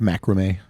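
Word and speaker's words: macramé: I'm excited about the second season um it's pronounced macrame so are you guys excited about this episode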